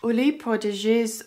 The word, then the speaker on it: Huile Prodigieuse: And also, Huile prodigieuse or, that's apparently how you say it.